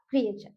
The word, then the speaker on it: creature: Next है देखिए क्रिएचर, CREATURE, क्या प्रोनाउंस करेंगे इसका क्रिएचर।